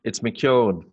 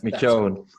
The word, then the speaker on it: McKeown: It's McKeown, but don't worry too much about it.